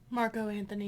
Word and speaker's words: Marco Anthony: Is it Marco Anthony or Mark Anthony? Marco Anthony.